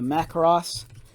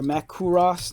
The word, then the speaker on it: Macross: we have the sdf1 the mac ross or mac kuros depending on how you pronounce it and then with